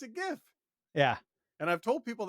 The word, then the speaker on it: GIF: format that ends in .gif? I say it's a GIF. You might say it's a it's a it's a GIF. gift. No, it's a Yeah, gift. It's a gift. it's a hard G.